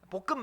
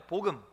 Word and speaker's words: 복음: 볶음 말고요, 복음. 발음 자대로 하셔야 돼요. 복음 있다 그러면 틀려요.